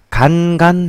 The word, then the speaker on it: 간간: 자, 오늘의 게임 어그레서스 오브 다크 통쾌 간 행진곡 발음에 유의해 주세요. 간간 행진곡입니다.